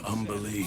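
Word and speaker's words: Umberlee: What do you know of Umberly Astarion? Oh, lots. Rhymes with undersea, for one thing.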